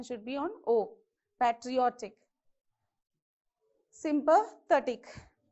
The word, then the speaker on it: patriotic: end of the word now patriotic where do you pronounce how many syllables we have pear tree or thick okay so from the end of the word second syllable so it is patriotic so you have to